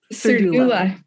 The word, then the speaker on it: Cerruda: Did I say it wrong after all? You did. But you said it perfectly before. I know. Cerruda.